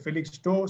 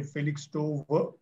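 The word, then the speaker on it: Felixstowe: w e phillips store some people pronounce it at felix store some people say felix 2 depends on okay felix store is one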